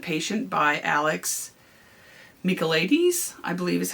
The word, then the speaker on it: Michaelides: Another one I listened to that I just finished was The Silent Patient by Alex Michaelides, I believe is how you pronounce his last name.